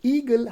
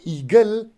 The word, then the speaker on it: eagle: now now the word eagle has two syllable one is e and another one is gil so e gil the stress goes on first syllable so we say eagle